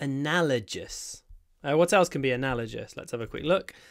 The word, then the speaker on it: analogous: what else can be analogous let's have a quick look and just uh with nouns oh an analogous case oh didn't work try again it was an analogous case not analogist analogous analogous anyway analogous and